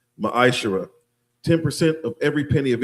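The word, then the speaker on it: מעשר: It means 10th in the Hebrew is pronounced maisher.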